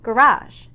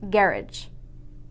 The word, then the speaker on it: garage: For example, this word is pronounced garage in America, but in England, it's pronounced garage.